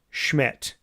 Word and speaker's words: Szmyt: None other than the man, Andre Schmidt. It's spelled SZMYT. It's pronounced Schmidt.